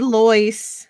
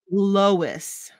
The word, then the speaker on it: Lois: You said Lois because it sounded like loin, but it's Lois. Check your Southern accent, son, and pronounce it right.